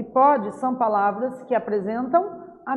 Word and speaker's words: pode: Porém, na hora de pronunciar, o som fica diferente dependendo do acento diferencial que eu coloco.